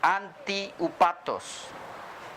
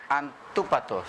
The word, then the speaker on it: antúpatos: Por ejemplo, antiupatos, ese término, antiupatos, que en verdad el pronunciarlo sería antúpatos.